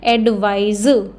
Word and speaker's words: advise: इट इज़ एडवाइस, ये क्या है? सा। एडवाइस, ये क्या है? एडवाइज, ये क्या है? जा।